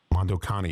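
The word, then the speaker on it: Mondo Cane: And uh if you look up Mondo C an A N E Moc Kane Mondo Connie is the way it's pronounced.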